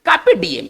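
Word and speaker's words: carpe diem: देखिए इसको कैसे पढ़ेंगे, आर साइलेंट रहेगा, वैसे भी वॉवेल के बाद आर जो होता है ना वो नहीं बोला जाता है, या वो दबी आवाज में कहा जाता है। चलिए कार्पे डीएम, इसको पढ़ेंगे कैसे, कार्पे डीएम।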